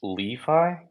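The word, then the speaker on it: LiFi: Did you say it's pronounced Li-Fi? Yeah, I know. That's been an ongoing discussion for 3 years now. Oh my God, so my entire life is a lie. It's short for linked finance.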